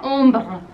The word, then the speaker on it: ombre: En francés no lleva la H y se pronuncia ombre.